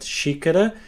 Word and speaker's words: xícara: A little tip here, whenever a word starts with an X, like in the word xícara, it will always have this sound, the sh sound.